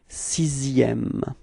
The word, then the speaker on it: sixième: in the sixième word, is pronounced like s. Okay, so it's not X really, okay? So you pronounce it like S. So you get this sixième.